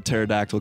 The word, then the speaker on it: pterodactyl: you know yeah right why can't you hear a pterodactyl going to the bathroom because the p is silent yeah get this get